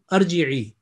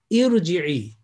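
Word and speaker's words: ارجعي: Mostly people I have heard, they would say arji'i, okay? But actual pronunciation, it will be with kasra, irji'i, because I said alif, the next letter, sakin.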